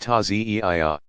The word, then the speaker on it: Taziyah: In more traditional Shi'i villages, people still gather to reenact the events in a passion play called the Taziyah, pronounced Taziyah.